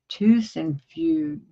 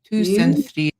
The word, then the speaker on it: Tusenfryd: yeah, Tusenfryd. Tusenfryd. Tusenfryd. Freed.